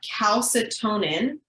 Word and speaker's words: calcitonin: blood right we have calcitonin the best way to remember this is it rhymes with bone in okay so calcitonin bone